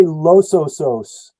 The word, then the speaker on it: Los Osos: it's the Los Osos we say Los Osos Los Osos okay in Spanish would trans you translate to the bears but in in our case we're referring to the soil series uh Los Osos which is a relatively